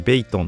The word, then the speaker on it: 北通: 今回はですね、こちらの北 2 って書いてベイトンって読むらしいん